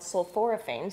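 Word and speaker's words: sulforaphane: something in them called sulphoraphane so say that 10 times hold on sorane that's a for syllable word that's right uh but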